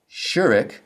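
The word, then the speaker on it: שׁוּרֶק: The Uclass vow shurik is pronounced like the U as in ruler and it appears as a wow with a dot to the left.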